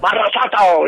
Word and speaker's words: Monsanto: Is that how you pronounce it? Monsanto. Monsanto, yeah.